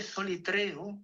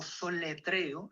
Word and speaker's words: solitreo: Eh, el nombre solitreo o soletreo, las dos pronunciaciones son justas.